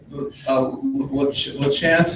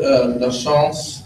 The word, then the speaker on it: Lachance: Lachance is the common way to pronounce it. Lachance is the proper French way to pronounce it.